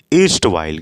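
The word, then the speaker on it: erstwhile: इसको बोलते हैं ईस्ट वाइल। क्या होता है? ईस्ट वाइल। आर साइलेंट होता है तो ईस्ट वाइल हम इसे कह देंगे।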